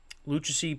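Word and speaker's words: Lucchesi: one over the Diamondbacks luchacy picked up the win that's how you pronounce it and Jacqueline picked up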